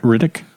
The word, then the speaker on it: Riddick: David, how do you say his last name again? Riddick. Riddick. I always want to call him Richie.